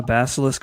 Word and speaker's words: basilisk: uh in response to Corinth's AI cult ask him if he knows about the basilisk theory. Basil basilis basilis theory basilis a let me spell it b a s i l i s